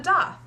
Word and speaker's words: daith: history here behind why we call it the doth in the grand scheme of body piercing this